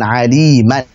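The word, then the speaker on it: عليما: Contohnya adalah misalkan aliman. Misalkan aliman. Harusnya dibaca aliman, begitu. Baik, aliman harusnya. Tetapi karena dalam kondisi waqaf maka dibacanya alima seperti itu. Jadi bukan lagi aliman tapi alima. Tanwinnya diganti dengan alif.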